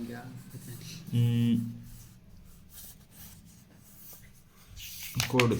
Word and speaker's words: chord: Theorem है CHORD कोड है, इसमें H साइलेंट है।